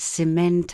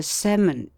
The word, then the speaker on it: cement: When the same word, being a dissyllable, is both a noun and a verb, the verb has mostly the accent on the latter and the noun on the former syllable, as Molly, let Hymen's